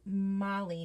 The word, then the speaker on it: Mulling: bright so cute um mulling is my last name pronounced like molly not mole oh molly and d